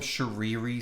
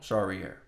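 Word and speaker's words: Charrière: I want to call him Charriere so bad, but that's not how you say it, and I'm so sorry. Morgan Charriere. Charriere.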